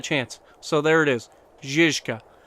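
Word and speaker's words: Žižka: Zizka. That is how it's pronounced. I'm American, and most of us call it either the Zizka, because it's a Z, so Ziz, not Ziz, or the Zika, because some people don't realize there's another Z in there.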